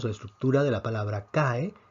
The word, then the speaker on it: cae: y nos quedaría entonces la palabra cae con dos sílabas acá vemos entonces que